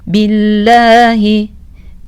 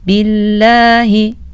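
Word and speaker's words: بِاللّٰهِ: buna da dikkat edelim billahi kelimesinde ise lafzatullahın Lama ince okunur ve sadece birmet miktarı uzun okunur Lütfen buna da dikkat edelim bazı kardeşlerimiz Burada iki üç met miktar uzun okuyorlar Bu da hatalı bir okuyuşu olur billahi billahi sadece birmet miktarı uzun okumamız gerekir billahi o içinden mineşşeytanirracim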